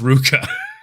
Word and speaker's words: RVCA: supposed to be pronounced Ruka it's weird because it's a v but it's it's Ruka sport I don't know